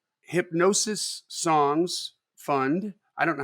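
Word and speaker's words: Hipgnosis: That means they're acquiring, like Hypnosis Songs Fund. I don't know how to pronounce that. I think it's hypnosis, but it's I think the G is silent.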